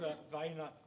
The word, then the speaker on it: Vonk: Now, what is your how do you pronounce it? Because I'm going to get it wrong. Yeah, it's Vonk.